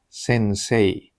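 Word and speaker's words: 先生: Nó đọc là "SENSEI", cũng có một ý nghĩa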